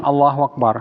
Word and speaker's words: Allahu Akbar: Unang pagkakamali dito, sa pagbigkas ng Allahu Akbar, yung pahabain mo yung hamza, yung Allahu Akbar. Mahaba. Allahu Akbar. Mali. Hindi diretso. Allahu Akbar.